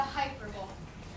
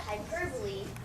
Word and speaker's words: hyperbole: new Duchess of the hyper Bowl actually I believe we pronounce that hyperbole is for syllables with the accent on the second syllable it's great to me